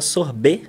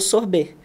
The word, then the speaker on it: sorbet: E existe um sorvete que, na verdade, assim, o nome internacional chama sorbet, né? Ele pronuncia com B-E-T mudo, que ele é uma